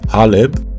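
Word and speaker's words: حلب: Next, we throw down some Aleppo pepper, or as it's properly pronounced, haleb.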